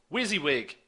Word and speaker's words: WYSIWYG: WYSIWYG, that's what I said, and how that's spelled is W-Y-S-I-W-Y-G.